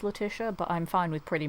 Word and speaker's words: Letitia: my name is pronounced letia um I know uh different parts of like Europe pronounce it differently but yeah it's it's pronounced latia but I'm fine with